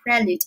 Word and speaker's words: prelude: 这三个单词，那么首先 prelude，注意发音哈，prelude 重音在第一节，它你看